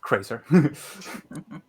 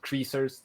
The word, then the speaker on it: Krazer: So as I was saying, Krazer 7th, that's how you pronounce it. I roll the R, it's just Krazer. Yeah, they say that because many people say it as Krazer or Kreisers even.